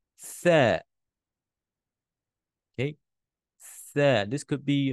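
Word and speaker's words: ث: some of you, because when you pronounce it, just imagine that this is your lips, okay, from the side view. This is your two lips. I'm not good in drawing, okay? Okay, your two lips. So when you're pronouncing, the tip of your tongue has to exit your mouth a little bit. There, there, there, there. Okay, this is the letter there. It makes the there sound.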